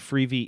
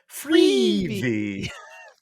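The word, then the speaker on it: Freevee: do you say that I believe freebie is correct yes okay no but I believe you said it freezy freebie yes so it's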